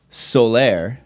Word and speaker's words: Soler: our new friend bernadette solaire did i do that right is that that would be the the puerto rican pronunciation i love it i